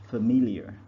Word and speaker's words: familiar: the next word is familiar so the stress is on the second syllable nobody is familiar familiar addictive military okay